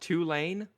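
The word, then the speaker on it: Tulane: up there mascot it's pretty how do you spell it two lane t u l a n e oh two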